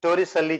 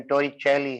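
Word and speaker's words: Torricelli: क्या है, अभी मैंने टोरिसेल्ली थ्योरम बतानी। इसको टोरिसेल्ली ही बोलता हूं, एग्जैक्ट इसका प्रोनाउंसिएशन टोरिचेली है, जो मुझे बोलने में थोड़ी दिक्कत रहती है।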